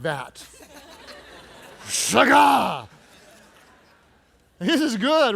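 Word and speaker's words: שָׁגָה: Everybody say shagah. You have to say it like that with attitude. It doesn't work if you say shagah, okay? It's shagah. This word in the Hebrew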